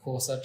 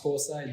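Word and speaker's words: Xhosa: and then there's the kosa tribe which it's not pronounced Co side they've got the click that yeah I can't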